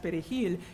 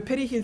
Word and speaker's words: perejil: they use the test perejil is because Haitians if they only speak Creole, there is no R in Creole, you would not naturally roll your R.